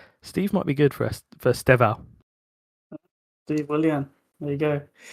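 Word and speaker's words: Estêvão Willian: Steval, no e. Esteval. No e. Just Steval. Steval.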